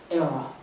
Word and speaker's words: Airea: Era rhymes with Sarah.